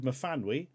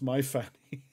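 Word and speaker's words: Myfanwy: I read somewhere of a Welsh lady, says Crucible One, called Mafanwy, who started working in the USA, and another Brit in the company had to advise him it wasn't pronounced My Fanny.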